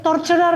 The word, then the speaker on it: torturer: Tort torturer yan mayor. Torturer parang three syllables.